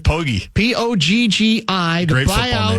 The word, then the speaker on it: Poggi: In the wake of the news that Charlotte has fired the head coach, Biff, is it pronounced Poggi? Yeah, Biff Poggi.